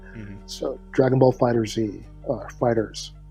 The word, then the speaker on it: FighterZ: So Dragon Ball FighterZ, Fighters, the Z is silent there, not silent, but you know what I mean.